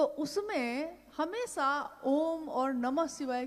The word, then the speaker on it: ओम: दी, जो प्रकट हुई, उस ध्वनि की आवाज थी आ ओ मा। अगर एक साथ सुना जाए उसको तो उसकी आवाज गूंजती हुई ऐसी है जैसे हम बोलते हैं या उच्चारण करते हैं तो हम कहते हैं ओम, है वो आ